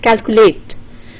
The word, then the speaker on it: calculate: So you have something like calculate. So cat, it gets the main stress, and late gets the secondary stress.